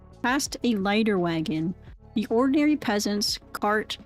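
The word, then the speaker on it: leiter: Now and then again we passed a leader wagon. Letter wagon leader letter I would say let later but lighter. Oh it's rhymes with lighter. Past a lighter wagon, the ordinary peasants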